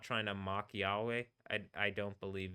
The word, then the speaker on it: Yahweh: But it is something where like I say Yahweh and I say Yahweh because Yah and then the way but it it could be Yahwa Yod.